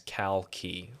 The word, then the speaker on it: Calki: yes, I pronounce my name as Kalki, like the state, California, and like Key, like DJ Khaled.